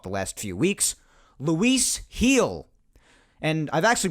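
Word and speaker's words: Gil: trade deadline talk the last few weeks luis heal and i've actually pronounced his name wrong in the past i'll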